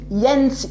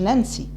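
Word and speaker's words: ينيسي: بعديه ينسي، مش ننسي، ينسي، ممكن واحد ينطق ينسى، ينسي، نهر ينسي.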